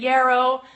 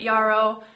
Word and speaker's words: yarrow: herb which is yarrow some people say it yarrow others say it yarrow you might catch me